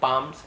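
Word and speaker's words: palm: hair on मा माय पाम्स ऐसे यूज होगा चलिए देखते हैं पालम पढ़ेंगे पाम पढ़ेंगे ना एल साइलेंट होता है चलिए इसका ट्रांसलेशन देख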